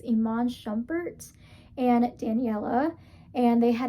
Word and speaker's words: Iman Shumpert: I think I said it wrong last week, so I think it's Iman Shumpert and Daniella.